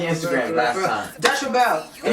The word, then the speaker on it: ReBelle: That's why everybody pronounces it wrong. They be like Dutch Rebel, and I'm like, yo, there's like 3 extra letters chilling right here.